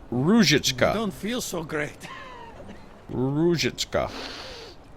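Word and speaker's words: Růžička: Our corporate Oh, emphasis on the first syllable though, so Ruzhichka.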